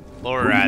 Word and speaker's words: Lorelei: Oh, right, I'm Lorelei. Did Reese send you? Lorelei, that's how you say her name again.